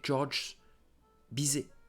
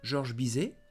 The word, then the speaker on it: Georges Bizet: Georges Bizet. So don't forget, do not pronounce S and T. Don't say Georges Bizet. No, Georges Bizet, famous for classical music.